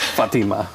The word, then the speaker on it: Fatima: that's right um yeah when I was in Morocco I learned that I've been mispronouncing her name it is Fatima okay yeah Fatima yeah